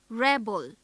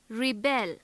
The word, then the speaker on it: rebel: If stress is on the second syllable, then it is a verb.